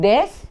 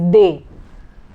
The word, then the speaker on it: des: The pronunciation is not des, it is they.